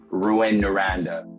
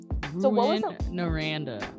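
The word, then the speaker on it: Rouyn-Noranda: tough one so it's it's called no and if you would want to say it I guess with the English pronunciation it would be like ruin Nanda or something like that Ru naranda I just want to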